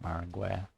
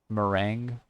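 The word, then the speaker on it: meringue: It's not Marangu. Mering. Lemon mering cheesecake. That's how you pronounce it.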